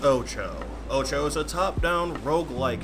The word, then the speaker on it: OTXO: can do later take a wild guess as to what this game title says I guarantee do you pronounced it wrong the game is called Ocho Ocho is a top-down